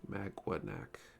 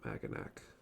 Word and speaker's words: Maganac: I should be pronouncing it Magwanac, I think. Magwanac, not Maganac.